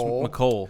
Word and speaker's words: Mecole: I don't think it's Mecole. Just Mecole, like Nicole.